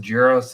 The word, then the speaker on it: Jira: pronunciation Mark of jir definitely J 100% jir yeah jir and I'm jql person